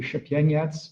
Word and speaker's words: Szepieniec: say exactly exactly uh for those who wonder how it is pronounced uh i say chapienze but then someone who's actually from poland might disagree about the correct pronunciation so there you go